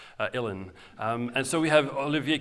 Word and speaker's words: uilleann: And finally, the uilleann pipes, again, just as it's spelled, uilleann.